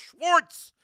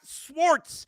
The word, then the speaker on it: Schwartz: Jewish person in your life you know it's pronounced Schwarz not Schwartz it drives me freaking crazy say the name